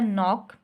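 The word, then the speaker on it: knock: फिर उसके बाद बच्चों हो गया नॉक, KNOC, के नॉक, ये जो खटखटाना दरवाजे पे हम नॉक करते हैं, अब इसको हम नॉक बोलते हैं, के नॉक नहीं बोलते, तो यहाँ पर के जो है वो साइलेंट हो गई, ठीक है बच्चों।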